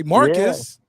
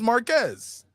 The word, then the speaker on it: Marquez: name is Marquez okay some people say Marcus or Mark but it's Marquez Marquez oh